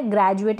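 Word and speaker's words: graduate: है ग्रेजुएट क्या है ग्रेजुएट यहां पर ये जो डी है इसका उच्चारण ज करके हो रहा है क्यों हो रहा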